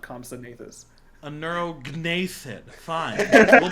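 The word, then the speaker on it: anurognathid: I believe he would No, probably there's no- pronounce it Anirognathan. It's G. The G's silent in Nathan. Like Compsognathus. But I hear the G when you say that. You said Compsognathus, not Compsognathus. A neurognathid.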